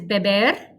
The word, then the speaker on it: beber: see so it's so the next one is beber it means to drink pronunciation bear bae bear and movement it's kind